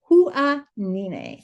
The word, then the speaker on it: Huahine: I know I said it wrong at the end of the last video and I said, watch this. It's going to be Kathleen's wrong pronunciation. And I looked it up and it is Huahine.